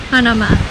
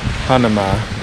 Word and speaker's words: Hanauma: Hanauma. Hanauma Bay, which means, what's it mean?